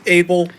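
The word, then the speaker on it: Abbyle: First of all, it's actually pronounced Abel. I understand the confusion. It's spelled A-B-B-Y-L-E, and I can understand how it might seem like it might be pronounced Abby, but that's okay.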